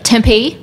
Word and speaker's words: Tempe: right okay yeah yeah if the accent is on the P so Tempe okay Arizona all right